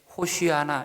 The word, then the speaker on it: 호시아나: 유대인들이 바벨론 포로를 지나가면서 히브리 말을 잃어버렸기 때문에 그들이 이제 히브리 말을 잘 쓰지 않았기 때문에 그 당시에 호시아나, 이것이 맞는 발음인데 호시아나가 아람어 발음으로 호산나입니다.